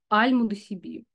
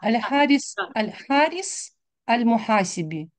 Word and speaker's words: аль-Харис аль-Мухасиби: труд до сих пор остается основополагающим для изучения Аль-Мудасиби. Великий стилист и оратор, он широко известен как Ирина сам... Андреевна, Аль-Харис Аль-Мухасиби.